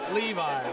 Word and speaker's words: Levi: How do you pronounce it? Levi, like the jeans.